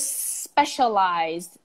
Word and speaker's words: specialized: okay there's there's specialized there's specialized attention to the sh sound okay specialized and we